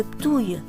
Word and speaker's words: Ptuj: Escale dans la jolie ville de Ptuj, et oui, ça se prononce comme ça, au bord de l'énorme rivière Drava.